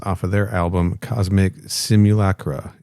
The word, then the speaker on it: simulacra: of their album Cosmic Simulacra. Is that how you say that word, Kenny? I always get self-conscious when I pronounce it. Simulacra, that's what I would have said, yeah. Hell yeah, nailed it.